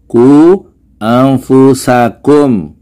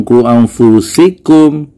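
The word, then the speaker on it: قوا أنفسكم: Bacanya ku anfusakum, bukan ku anfusikum.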